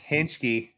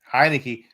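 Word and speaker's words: Heinicke: But yeah, you had Henschke over here for Henschke. Heineke. I know it's spelled funky.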